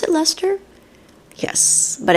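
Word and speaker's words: Leicester: button box and then it's Lester you know pronounce it Lester yes but it's like l i CS so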